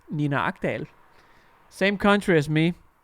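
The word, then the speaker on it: Nina Agdal: Her Danish name is pronounced Nina Akdal.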